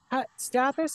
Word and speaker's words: Stathis: Stathis, is that your last name pronunciation?